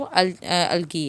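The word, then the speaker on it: algae: Land पे smallest plant जो है वो अलगी है, इसको अलजी भी प्रोनाउंस किया जाता है।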